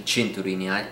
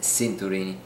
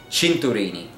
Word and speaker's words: cinturini: for my mispronunciation, but it is actually pronounced cinturini, which is the Italian way of saying watch straps.